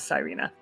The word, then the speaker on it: Cyrina: she's decent I'm sorry I mispronounced her name earlier her name is Serena I think I called her Serena her name is cyrina and she just like